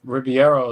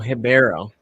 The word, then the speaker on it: Ribeiro: Oh, Ribeiro. They don't like to pronounce letters in Portuguese. Ribeiro. They just breathe out the first letter.